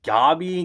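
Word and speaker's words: Gabi: into a gobby rant also why isn't it just pronounced gabby like why god he sounds like a pokemon um but anyway the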